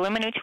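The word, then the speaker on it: Weminuche: It's the Wiminooch Wilderness. People butcher it in all sorts of interesting ways, but, you know, Wymanooch, Wiminuche, Wimaniche, whatever, I don't know. It's Wiminooch.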